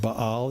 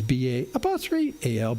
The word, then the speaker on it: Baal: It's actually pronounced Baal. It's B-A-A-L, Baal.